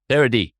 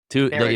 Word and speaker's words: Paradis: Imagine I two like that. E's. Imagine two E's. It's how I know everybody wants to pronounce. It's a two at the end. Yes. Yeah, it's Paradis. French. It's Excellent, my French. friend. But of course, oui. That's it. It's the French.